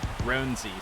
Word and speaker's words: Roansy: be saying that incorrectly there's a bunch of different ways that announcers have been pronouncing his name so far but their teammates uh seem to call him roenzy so we're gonna go with that for now until i